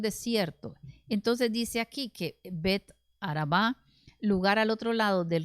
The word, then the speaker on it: Bet Araba: donde juan estaba bautizando bueno de tábara tiene el acento en a vara verdad pero en realidad es bet araba y bet araba significa casa del desierto y cual desierto el